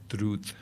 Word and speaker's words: druid: the English language, and if you pronounce it in the Celtic way, druid is the D is softened, so it becomes like druth.